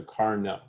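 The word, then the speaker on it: Carnot: about is called a car no engine it's named after a frenchman so we don't pronounce the t so car no and it consists of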